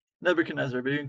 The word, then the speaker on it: Nebuchadnezzar: for coming how do you say your name Nebuchadnezzar but you can call me neb cool you're